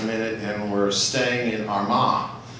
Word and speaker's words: Armagh: And we're staying in Armagh, or as my wife from County Cork makes fun of me for saying Armagh, for them it's Armagh. So if you want to throw your cheek up and say it like that, that's the way they say it in the south of the country.